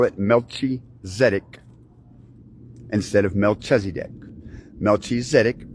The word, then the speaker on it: Melchizedek: Melchizedek because it rhymes with medic, like the arithmetic of God, penned by Don Kistler.